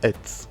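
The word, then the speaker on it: עץ: Ensuite, nous avons le tzadé, c'est le son tse, donc ça se lit et, qui veut dire arbre,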